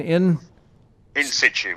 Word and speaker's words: in situ: When I think, of course, of words like is it how do you pronounce that again? In situ.